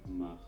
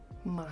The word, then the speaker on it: Macht: I've been saying his name wrong. Let me look it up. Macht. Macht. Which means power or might in German. Let's say it all together. Macht. Macht.